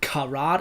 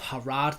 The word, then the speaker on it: Harad: harat Forest I'm realizing I have said karat instead of harat so many times over